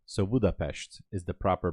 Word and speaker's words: Budapest: Actually, the way we pronounce it is not Budapest. So, not an S. You say ash. So, Budapestt is the proper pronunciation.